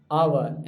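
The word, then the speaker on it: hour: भी बोल देते हैं वो ऑनेस्ट होता है आवर एच ओ यू आर आवर मतलब घंटा और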